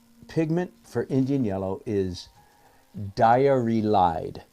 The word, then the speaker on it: diarylide: And the ingredient, the pigment for Indian yellow is diarylide. So it's a word just like diary, D-I-A-R-Y, diary, with L-I-D-E at the end of it, diarylide.